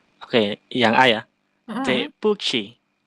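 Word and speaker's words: 对不起: Q-nya harus ada anginnya. Ci, tapi yang ada anginnya. Ci. 对不起. Tepuchi. Tepuchi. Coba dengerin aku, Mas. Ini kan ada nada 4. Jadi dia harus membentak.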